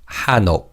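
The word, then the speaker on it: 한옥: And in terms of pronunciation, the nanbachim in the first syllable carries over to the second syllable. So it's pronounced as hano.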